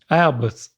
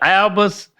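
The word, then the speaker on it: Albus: can call me and it's spelled Al how do you say that oh no if a person is named there you go so it's Al alus oh Professor alus Dumbledore yes you got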